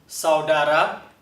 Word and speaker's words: saudara: 我们再听老师念一遍 saudara 再一次 saudara 好，最后